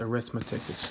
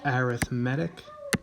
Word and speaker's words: arithmetic: word is not pronounced arithmetic so now it's arithmetic cuz it's an adjective in this sense you've probably seen these